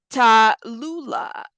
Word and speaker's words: Tallulah: Tallulah is how you pronounce it.